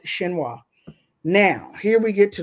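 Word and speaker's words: Xinhua: China's State Wire service I believe that's pronounced shinoa now here we get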